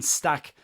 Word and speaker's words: Stach: in ballwinning specialist Anton Stack from Hoffenheim. I am going to pronounce it stack just to remove the amount of flem that's involved in pronouncing it his name in in German but Stack is as